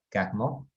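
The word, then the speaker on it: Carnot: máquina térmica de carnets era un ingeniero francés que se pronuncia en realidad calmo pero pero limpiamos candado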